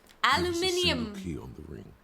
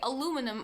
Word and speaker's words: aluminium: should open the door now americans say aluminum are we totally missing an eye there or is that actually a different word or a different metal your great uncle helped